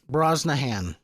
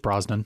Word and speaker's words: Brosnahan: Rachel Brosnahan. Brosnahan. It's just Brosnan. Nope, it's Brosnahan. I don't care how it's spelled.